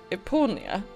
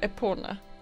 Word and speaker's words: Epona: Ja, ett tag så trodde jag att det hette Eponia. Men det heter väl Epona.